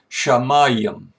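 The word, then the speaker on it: שָׁמַיִם: English spelling of it it is pronounced shamayim shall maíam now you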